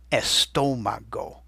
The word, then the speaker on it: estómago: And you can hear where the accent's hitting because it's the part of the word with the most stress, almost like it's a drum beat. Estómago.